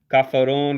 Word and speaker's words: kafirun: Non-believer, kafirun, that's how you say it.